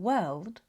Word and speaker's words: world: When L comes after a vowel like in world, it often becomes the dark L.